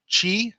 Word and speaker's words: Qi: available on certain gadgets the current standard is called Qi spelled Qi so this is an